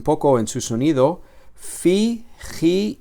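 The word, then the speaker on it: χι: La ji no es una X, sino que es una J, como en la palabra jabón o la palabra jamón, ¿vale?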